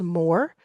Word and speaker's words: Mōr: And I just launched this company called More. And the way you spell it is M long O R.